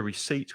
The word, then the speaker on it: receipt: When you pay, you get a receipt with all the prices. Just be careful of the pronunciation. The P is silent Receipt.